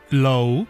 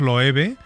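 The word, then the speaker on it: Loewe: El compositor es Frederick Low, como se pronuncia en Estados Unidos. Pero nosotros le lo pronunciamos Love porque estamos autorizados, ¿vale?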